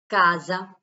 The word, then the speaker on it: casa: Casa, casa. Here, S pronounced like Z.